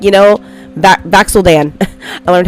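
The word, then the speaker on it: Vax'ildan: Like, you know, Vaxeldan.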